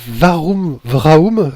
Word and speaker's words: Warum-Vraoum: Donc les éditions, c'est Warum Vraum, je prononce bien ? C'est tout à fait ça.